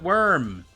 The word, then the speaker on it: worm: at the word worm it's got an o in it it looks like it should be pronounced warm worm we pronounce it worm i know what it's